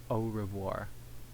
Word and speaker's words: au revoir: But if you say it in French, it's au revoir. It's like au revoir. Au revoir. Well, it's like it's kind of like the Japanese o, like and then revoir. Revoir. So that R sound's probably going to be going to get me each time.